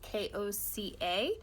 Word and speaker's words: coca: on a cocoa leaf it's actually pronounced ko CA if you want to